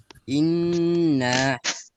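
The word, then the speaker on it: إِنَّا: তাজদীদুল হরফ দুইবার পড়তে হয়। প্রথমবার জজমের মতো, দ্বিতীয়বার নিজ হরকতের উচ্চারণ। হ্যাঁ, তাহলে একটা উদাহরণ আমরা বলি তো সবাই। ইন্না।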